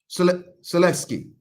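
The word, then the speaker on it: Sulęcki: Jamal Charlo about to go fight Maseed Selecki. Maseed Selecki. What is that his name? Right. How you say his name? How the hell you said it? I don't want to disrespect this man name. Selesky.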